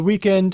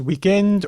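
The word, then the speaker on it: week-end: word which is pronounced weekend or even weekend there's that omitting the final consonant thing hedvig correctly pointed out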